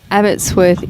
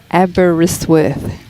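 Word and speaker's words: Aberystwyth: FYI, Abbottzsworth is pronounced Abberisworth.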